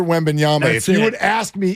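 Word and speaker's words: Wembanyama: big the fact that we've learned like Jama Mala Leila right and Victor wendbanyama so you would ask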